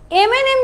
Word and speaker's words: M&M: সো M&M যখন আমি pronounce করব তখন কিন্তু আমি এ দিয়ে শুরু করছি, রাইট? আমি কিন্তু একটা ভাওয়েল দিয়ে শুরু করছি, আমি কিন্তু এম এর কনসোনেন্ট সাউন্ডটা ইউজ করছি না, আমি এম বলছি। এখানে যদি জাস্ট ধরো ম্যাঙ্গো, ম্যাঙ্গোতে কিন্তু তুমি ম দিয়ে স্টার্ট করছো, ওয়ার্ডটাই স্টার্ট হচ্ছে এম দিয়ে, সো এটা একটা কনসোনেন্ট সাউন্ড দিচ্ছে, বাট M&M এর প্রোনাউন্সিয়েশনটা কিন্তু এম দিয়ে হচ্ছে, অর্থাৎ এখানে কিন্তু ভাওয়েল সাউন্ড আসছে।